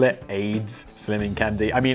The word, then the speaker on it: Ayds: Did you really call it Ayds Slimming Candy? I mean, it's spelled A-Y-D-S, but I mean, there's also something else called Ayds.